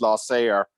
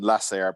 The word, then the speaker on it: Lasair: on a different part of the world it's laissez ER rather than less air but you're getting it right you're pronouncing operations okay first I thought of them